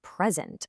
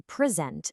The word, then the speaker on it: present: If I say present with the stress on the first part, I'm talking about a gift. But if I say present stressing the second part, I'm talking about the action of giving something.